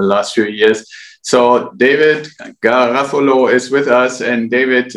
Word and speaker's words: Garofalo: you pronounce it perfectly like a European like a European should pronounce an Italian name well done yeah thank